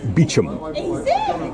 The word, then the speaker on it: Beauchamp: Now I'm just going to read this plaque which um gives a summary of the fortunes of the house of Bochamp pronounced Bichum.